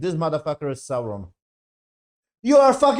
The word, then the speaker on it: Sauron: it right right this is Sauron you are Sauron okay he's